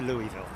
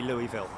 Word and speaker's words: Louisville: back to Louisville I'm going back to Louisville it's as simple as that not L I'm not American so I won't pronounce it like Americans do okay that's a big